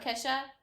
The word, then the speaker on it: Kesha: Unless you're like Keisha. Or Keisha. How do you say it? Kesha.